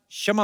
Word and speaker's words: क्षमा: मैं कशमा चाहेगा। कशमा नहीं क्षमा होता है।